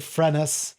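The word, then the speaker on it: φρένες: word of the day, and that is Phrenes or Phrenes. So I'm going to pronounce it Phrenes from now on. That's a little more of a modern sense.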